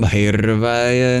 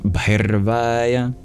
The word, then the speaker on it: Bhairavaya: For the R, if you want to master the trill, you curl your tongue back, like in Brahm and Bhairvaya.